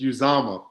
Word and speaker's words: Uzomah: Uzomah. Worm, let me hear from you. Uzomah. It's Uzomah.